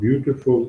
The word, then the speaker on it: beautiful: The accent of the word beautiful is on the first syllable.